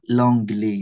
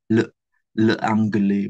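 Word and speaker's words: l'angle: Nah, ini L apos sama A ini bacanya longle ya, bukan le angle bukan university juga sama Longly.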